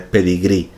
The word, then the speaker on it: pedigrí: pues tenemos esa palabra adaptada al castellano que es pedigrí terminado en una y con tilde pues es una palabra aguda terminada en vocal se ha comprado un